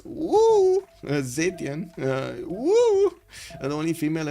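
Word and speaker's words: 武: It's not U, it's Wu.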